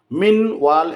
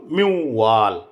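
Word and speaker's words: مِن وَالٍ: মিম মিম এখানে নুন সাকিনের পরে ওয়াও আসছে, তাহলে মিউ, ঈদগামে বিল গুন্না উচ্চারণ করলে মিউ ওয়াল, এভাবে উচ্চারণ করতে হবে। ফামা লাহু মিন ওয়াল এরকম নয়, ফামা লাহু মিউ ওয়াল।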